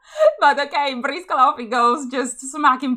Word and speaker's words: Briscola: But just so you know, Briscola is the correct name because it's an Italian card game. So I'm going to use the Italian pronunciation. But okay, Briscola off he goes, just